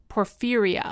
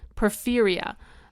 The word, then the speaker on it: porphyria: Scientists thought they knew the cause of these ravings, a genetic defect called, how did I pronounce it? Porphyria. Oh, yeah. Porphyria.